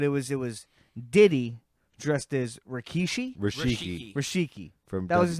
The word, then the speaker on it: Rikishi: Rikishi.